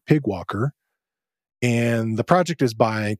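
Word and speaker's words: PyGWalker: though since it's pyg they have a fun way of just pronouncing it Pig Walker and the project is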